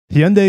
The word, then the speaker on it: Hyundai: a new Hyundai Hyundai is more uh correct but Hyundai taught us over a decade ago in America that it's pronounced Hyundai like Sundays Hyundai Genesis North America